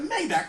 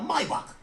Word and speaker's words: Maybach: But you were cool with it back then because you got a Maybach, or let me say it correctly, a Maybach.